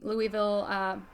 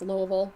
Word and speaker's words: Louisville: charity Instagram live benefiting the Louisville, or I guess Louisville Band Fund, Bail Fund, if you're going to pronounce it correctly.